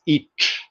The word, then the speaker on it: ic: It was it was spelled like this, but it was pronounced as ich. Those of you who speak German know that this is ich.